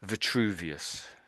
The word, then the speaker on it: Vitruvius: Verius. Yeah, that's pretty good. Vuvius.